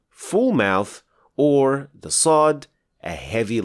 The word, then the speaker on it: ص: for the fact that sod is the heavy version of scene in other words if you pronounce scene as a heavy letter you will get swad and so the tip